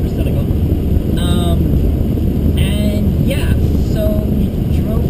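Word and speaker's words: Murciélago: And then a Lamborghini Murcielago. Not Murcielago, like most people say it is. I should pronounce it Murcielago.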